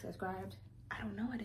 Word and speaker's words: Scribd: And it's Scribd. I don't know. Scribd sounds stupid.